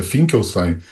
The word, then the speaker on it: Finkelstein: O nome está correto, a pronúncia talvez um pouco diferente, é Finkelstein, mas...